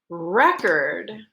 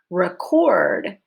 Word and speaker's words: record: Remember that record is a noun. Stress is on the first syllable. Record is a verb. Please record this for me. So your stress is on syllable number 2 with a long O sound.